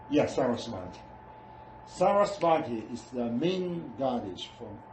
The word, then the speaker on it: Saraswati: How to pronounce it? Saraswati. Yeah, Saraswati.